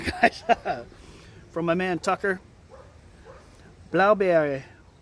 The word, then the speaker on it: Blaubeere: And the B-E-E-R-E is... it's a funny thing for English-speaking people to say. It's almost like saying berry. Right? Blaubeere. Beera.